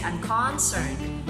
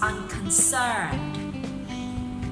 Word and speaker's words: unconcerned: So the stress is found in the last syllable. Sir. You don't say unconcerned. You don't say unconcerned. It's unconcerned. 3rd syllable, that's the stress.